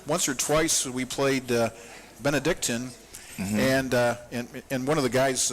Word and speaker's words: Benedictine: Yeah, I always say Cleveland Benedictine, and that's not quite right. It's Benedictine. And so he kind of got me to say it correctly.